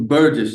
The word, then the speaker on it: Burgess: and we have Mr burges yes ma'am is that how you pronounce it it it's Burgess yes ma'am burges all right sir we're